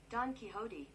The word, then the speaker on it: Don Quixote: Pronunciation. There we go. Thank you. Let's see. Don Quixote.